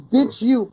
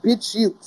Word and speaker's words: BitChute: Yeah, no, the website is Bitch You, BITCHUTE, Bitch You. That's how you pronounce it. Okay. It's Bitch You, yeah.